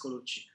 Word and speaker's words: Colucci: and is it kuchi is that have I pronounce yes yes yes my surname is kuchi kuchi uh my background is computer science graduating